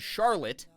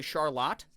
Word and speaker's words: Charlotte: area around here called what should be said Charlotte but we say Charlotte everyone says Charlotte oh I'm going to